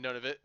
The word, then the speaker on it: Nunavut: Yeah, Nunavut. That's actually what it is. Not Nunavut. It's none of it.